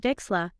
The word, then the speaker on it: Wechsler: Carroll, David Wechsler, and James Flynn. That is so cool. You even pronounced Wechsler correctly.